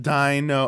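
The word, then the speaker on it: Deino: that's we pronounced that so it's ein like the number one in German Dino okay and then like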